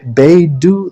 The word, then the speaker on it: Beidou: I should mention, by the way, that Beidou, that's how you say her name, Captain Beidou, that lady, whoa, that lady is hot.